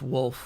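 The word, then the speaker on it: Wolfe: Well, it's Wolf with an E at the end. Nothing to do with me being a wolf. No way. Can I call you Wolfie? Uh, absolutely not. No, the E is silent quite obviously.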